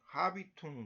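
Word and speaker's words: habitus: 그래서 보통 그래서 우리가 이 아비투스라고 합니다. 근데 이 유럽에서는 하비퉁 그럴 거예요. 하비퉁. 왜 그러냐면 우리나라 이 H를 묵음으로 하니까 아비투스 그렇지만 하여튼 아비투스는 포괄적인 개념이다.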